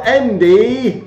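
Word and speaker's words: Ende: Michael Endy, because that's how you pronounce it in German.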